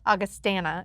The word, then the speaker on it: Augustana: I heard that we've been saying it wrong, by the way. Augustana. Augustana is how you're supposed to say it.